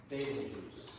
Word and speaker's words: Betelgeuse: I believe it's pronounced Betelgeuse.